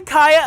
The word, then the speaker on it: Kaya: No one can say it right. Everyone's been saying Kia Asylum.